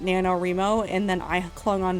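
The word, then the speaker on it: NaNoWriMo: really funny to me I've always heard as nanoro well I think I heard it very early on from somebody else on the internet who pronounced it nanoro and then I clung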